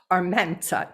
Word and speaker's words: Armienta: for now for us i gotta get the rolling of the r oh no it's all